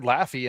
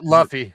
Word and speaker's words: Luffy: You're about to get killed for pronouncing that name completely. I don't know any of the characters. Luffy, sorry. Luffy.